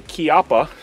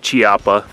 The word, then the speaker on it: Chiappa: This is a Chiappa. And that is how you pronounce that, guys. Not Chiappa.